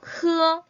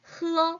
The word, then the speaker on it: 喝: 好, 자 그럼 마시다는 중국말로 喝 떨어지면 안 돼요. 喝 그렇죠. 흘리면 안 되니까 여러분들 먹다 마시다는 일성으로 가주셔야 돼요.